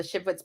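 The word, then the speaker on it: Shivwits: How do you pronounce all that? I am a descendant of the Shipwits band of Paiutes.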